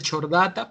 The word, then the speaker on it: Chordata: De ahí el filo, que es el Chordata, dice Chordata, pero se pronuncia Chordata.